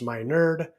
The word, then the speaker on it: Meinerd: I'm your host, Dr. Meinerd, pronounced My Nerd, and I'm honored to be here guiding you through today.